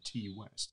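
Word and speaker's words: Ti West: This is how you pronounce his first name, T. West.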